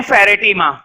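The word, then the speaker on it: Pheretima: इसको बोलते हैं फेरेटीमा, PHERE।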